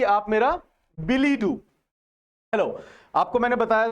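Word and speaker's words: billet-doux: है यहाँ पे ना, इट्स a foreign word DUX बट इट is pronounce as Billy do.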